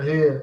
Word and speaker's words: Rio: keep that in mind the r words use the h sound you know just just